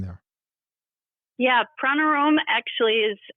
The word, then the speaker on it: Pranarom: a kind of an unusual name there yeah pranom actually is how it's pronounced though you can say it however you